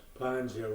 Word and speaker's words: Panja: Hi, Panja here. Panja rhymes with manja.